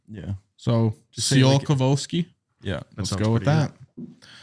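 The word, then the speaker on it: Tsiolkovsky: I think it's something it's just the t is silent yeah so just see all kovolski yeah let's go with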